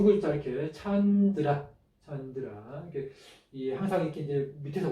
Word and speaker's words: candra: 읽을 때는 이제 이 뒤에 있는 처음의 발음이 정성으로 가서 찬으로 읽으면 더 쉽습니다. 이렇게 찬드라.